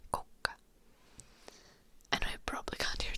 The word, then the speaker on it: kukka: Like we have differences, like kuka in Finnish is who, and kukka is flower. Kuka and kukka.